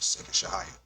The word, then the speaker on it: Segash Hiya: In this example, it is Segash Hiya, pronounced Segash Hiya.